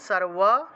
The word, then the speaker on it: সর্বা: ইয়া দেবী সর্বা, ব থাকলে ওয়া উচ্চারণ করবেন, সর্বা। ঠিক আছে, এই জন্য বটা বারবার লিখতেছি না, এটা ব দেখলে আপনারা ওয়া উচ্চারণ করবেন।